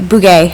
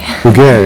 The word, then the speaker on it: Bugge: Is it Buggy or Buge or? I won't make you say it. Bugay. Bugay, okay. Thank you. Let's get rid of this here. Now, if you had the accent on the E, I would have been just fine.